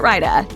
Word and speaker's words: raita: It's only 2 syllables, and the AI diphthong creates a long I sound. Remember that, and you're sure to get it Raita.